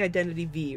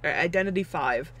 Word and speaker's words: Identity V: i'm gonna be playing identity v right identity five uh realize i've been pronouncing it wrong this entire time i gotta i